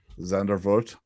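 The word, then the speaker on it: Zandvoort: at her zanda z-a-n-d-v-o-r-t how you say it zander vote i just don't say it track speed let's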